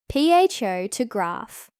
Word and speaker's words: photograph: For example, in the word photograph, the stress is on the first part, ph to graph. But in photography, it's on the second part, photography.